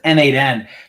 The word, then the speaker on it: n8n: I have workflows in ChatGPT and in N8N both that will not only it'll create a Google Doc and add a row to a spreadsheet.